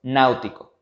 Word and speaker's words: náutico: Ejemplo, náutico. Al ser una palabra esdrújula, deberá tildarse en la antepenúltima sílaba y como esta antepenúltima sílaba tiene dos vocales, entonces el acento ortográfico irá sobre la vocal fuerte.